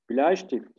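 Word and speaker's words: Bleistift: BL der BL Evet burada dikkat ediyoruz e i ay diye okunuyor değil mi e i ay BL BL Evet burada okunuş önemli okunuş a olarak kalın olarak çıkar attığımız için buradaki de nasıl çıkartıyoruz kalın BL bti diye söylemiyoruz burada okunuş önemli ay e i bir araya geldiği zaman ay diye okunuyor BL tift BL stift sadece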